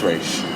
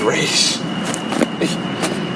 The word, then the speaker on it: Ra's al Ghul: This man, who has a doctorate, says it's Ra's.